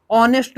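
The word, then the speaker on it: honest: ये हो जाएगा कॉन्सोनेंट लेकिन इसमें ह क्या है साइलेंट रहता तो ये हो जाता है इसका pronownciation अपना हो चाहे ऑनेस्ट इसमें पहला साउंड क्या आता है ओ तो इसलिए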